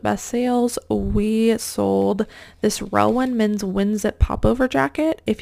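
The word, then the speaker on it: Relwen: Relwyn, if you're only listening and not viewing the screen, is spelled R-E-L-W-E-N and has a little red like bird logo.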